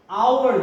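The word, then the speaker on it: hour: এইচ সাউন্ডটা silent থাকে, যেমন এটাকে আমরা আওয়ার বলি, অ্যান আওয়ার। এইচটা কিন্তু এখানে সাইলেন্ট, আমাদের ফার্স্ট সাউন্ডটা কিন্তু আ আসছে।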